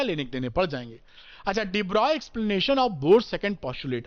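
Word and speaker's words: de Broglie: साल बाद डिब्रॉय ने डिब्रॉय की स्पेलिंग भी अलग लिखी जाती है पढ़ते डिब्रॉय हैं एक बच्चा कह रहा था गलत बोल रहे हैं आप तो मैंने कहा बता दें कि ब्रॉग टाइप से लिखते हैं पढ़ते डिब्रॉय अंग्रेजी अंग्रेजों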